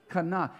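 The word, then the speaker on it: קנא: this word for jealousy in the hebrew is kana it's spelled q-a-n-a kana and this is what it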